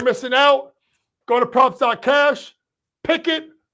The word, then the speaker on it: Pikkit: Pikkit, not Kenny Pickett. Different Pickett. Different spelling. It sounds the same.